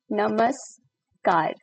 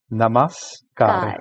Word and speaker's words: Namaskar: It's like Namaskar. Mhm. Namaskar.